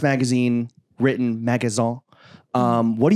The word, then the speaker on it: Magasin: magaza it's like a it's definitely pronounced magazine but the name came